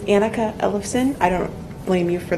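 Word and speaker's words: Annika Ellefson: next speaker is Anika Anika Ellefson and I probably slaughtered your name again I apologize my name is anneka Ellison I don't blame you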